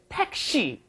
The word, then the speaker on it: 택시: It's not taxi, it's 택시.